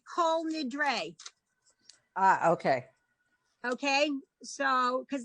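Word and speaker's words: Kol Nidre: the ooh in front this particular combination is always always always always always long o whole whole okay that's how you get cole nidre ah okay okay so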